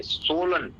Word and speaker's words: swollen: Are my fingers swollen? क्या मेरी उंगलियां सूजी हुई हैं? पहले Were तो my- पहले सुनिए इसको, सुनिए इसको। पहले तो आप प्रोनाउंस सही करना सीखिए। सोलन, swollen. सोलन।